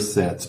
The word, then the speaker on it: set: número 7 em português é um e bem mais fechado do que o 7 é 7 você vê